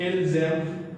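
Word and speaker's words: ils aiment: As here ENT is silent. ENT is silent part. This is also one of the rules that the later part of the word is silent. We will be discussing again, as I told you earlier in the another video regarding pronunciation. So this is silent part, and we don't, when we hear it is il, zem. This Z sound is telling us the difference between il, m.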